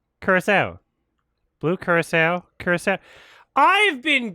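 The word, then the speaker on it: Curaçao: interviewing people on the street to rock cow Curacao Curacao great orange liqueur coming from the country of Curacao itself You Can't Screw okay it is Curacao Curacao Blue Curacao Curacao I've been gaslit my entire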